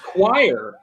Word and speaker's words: choir: really chlorine, choir, school, stomach, right?